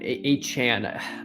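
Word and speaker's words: Achane: In case you didn't know, it's pronounced as in Jackie Chan, A Chan.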